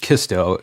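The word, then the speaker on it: CSTO: the thing yeah um Sisto or it's technically pronounced kisto because does it because it's collective security treaty Alliance yeah um Belarus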